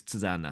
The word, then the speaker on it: Tusnio: Is my pronunciation correct? Your name is Tusana?